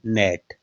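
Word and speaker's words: gnat: है तो इसमें देखिएगा अन से पहले क्या है जी तो क्या बोलते हैं नेट नोट नहीं है ये नेट है नेट क्या होता है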